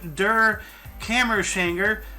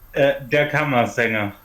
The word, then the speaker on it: Der Kammersänger: Frank Wedekind's play Der Kammerschänger premiered in Berlin. Can you pronounce that, please? I screwed that up. Der Kammersänger.